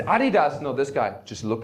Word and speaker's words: Adidas: I'm a German, it's Adidas.